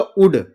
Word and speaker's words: would: इसको पढ़ूंगा उड। क्या पढ़ूंगा? उड। इसको पढ़ूंगा सुड। इसको पढ़ूंगा कुड। जो यल है क्या है? साइलेंट।